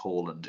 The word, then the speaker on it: Haaland: The annoying thing is, I think I've actually had, if Haaland hadn't have been Haaland, his name is supposed to be pronounced Haaland, and it just never.